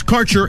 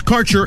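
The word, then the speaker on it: Kaercher: flavor your connection to Quality cannabis Insurance Services is spelled k a e r c h e r that's carer insurance we have worked with Ventures like cannabis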